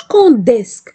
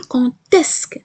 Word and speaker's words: quand est-ce que: هاد الدي كتنطق تي، ما باقيش كنطقوها دي، كتحول كتولي ت. ناخدو مثال quand est-ce que tu viendras؟ إمتى غتجي؟ ما غنقولش كونديسك، لا لا لا لا، غنقول كونتيسك. سمعوا كونتيسك ت ت.